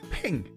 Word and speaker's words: PNG: swines did you know the PNG file format is pronounced ping they are ping files